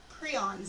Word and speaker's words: prion: of RNA prions and that is how you say the word I have met the person who invented the term his name is Stanley Preston her and if you invent the term you get to decide how it's said and so it's prion prions are infectious proteins prions